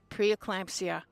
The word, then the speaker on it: preeclampsia: that's a big word folks p and it's pronounced preeclampsia it can be deadly you need to be